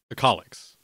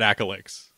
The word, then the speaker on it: Akalix: Second off, how I just realized that we've been mispronouncing your name this whole time. Akalix, not Akalix.